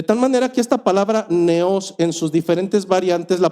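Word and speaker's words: νέος: griego la palabra original es la palabra neos con acento en la e palabra griega neos hay un postulado hermenéutico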